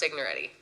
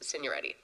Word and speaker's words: Signoretti: that before it's fine in the U.S it's pronounced signoretti if you go to Europe it's senior ready there's no you say